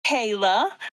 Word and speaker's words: Kala: So, my name's Kayla. Um, if you're looking for me, it's spelled a little funny. That's the first thing most people notice. It's K A L A.